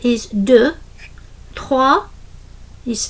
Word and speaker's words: deux: heard people speaking that often the last consonant is silent, so they don't really pronounce it, like un, deux. Trois is also cinq. You're not really hearing the end.